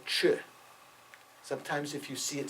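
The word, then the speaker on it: Chod: widespread in Tibet called CH sometimes if you see it spelled you might say it's Chad c h o d but it's not the D is not pronounced in to ch ch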